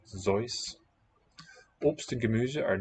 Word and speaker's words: Seuss: By the way, have you ever heard that Dr. Seuss wanted it pronounced Zeus?